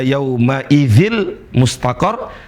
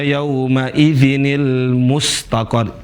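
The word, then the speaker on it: يَوْمَئِذٍ الْمُسْتَقَرُّ: Nah, Teman-teman seringki membacanya dengan ila rabbika yaumaidil mustaqar. Dan itu bacaan yang salah. Bukan begitu cara bacanya, tapi yang benar adalah bukan ila rbika yaumaidil mustaqar, tapi ilabika yaumaidinil mustaqar.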